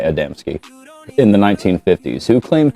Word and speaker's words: Adamski: Adamski is how it's spelled. So, I'm going to say Adamski.